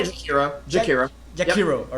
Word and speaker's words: Jakiro: You just say Jakiro.